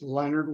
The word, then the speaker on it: Leonard: And again, it looks like Lenard, but it's not French. It's Leonard without an O.